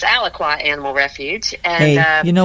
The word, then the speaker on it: Alaqua: So, um, let's kind of start out with, uh, what inspired you to start Aqua Animal Refuge back in, I guess it was what, 2007? Yes. It's actually Alqua.